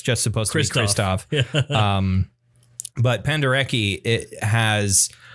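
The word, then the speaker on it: Krzysztof: uh composers is is Kristoff pendi I presume it's pronounced Kristoff it's Pol it's one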